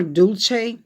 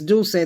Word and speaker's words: Dulce: is where Maria dulce a lot of people call her dulce that's not how you pronounce her name do say the Spanish name do say means candy or sweet or sugar okay so pronounce Dulce this